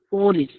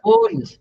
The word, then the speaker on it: police: Police. Police. It is not police. It is Police.